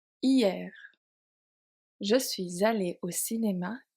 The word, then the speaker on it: hier: hier pronounced hier, je suis allé au cinéma hier je suis allée au cinéma hier ici.